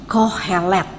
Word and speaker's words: Kohelet: dalam bahasa Ibrani pengkhotbah dinamakan kohelet ya bacanya yang berasal dari akar